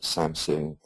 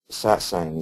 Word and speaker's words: Satsang: People pronounce it, when they're talking to me about it, Samsung, Satsung, Sitsong, so on and so forth.